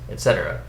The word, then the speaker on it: etc: this file that you'll often times here called Etsy host even though the EGC almost certainly should be pronounced etc but you'll hear Ed's Evo this is the